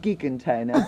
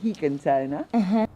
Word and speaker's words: gigantona: It looks like gigantona, but in Spanish it's gigantona.